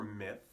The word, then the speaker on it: myth: Now the pronunciation for myth can be a little tricky. The first part, meh, is easy enough, but you want to make sure you're not saying me or ma.